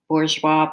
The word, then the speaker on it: Bourjois: So this is the Bourjois Paris.